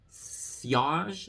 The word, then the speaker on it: sillage: Sillage? Silage? Sillage? Sillage. Sillage? It is pronounced silage. Sillage. It is sillage.